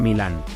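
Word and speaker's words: Milan: forma correcta de pronunciarlo se pronuncia Milán la acentuación del nombre recae sobre la primera sílaba y explicaba su significado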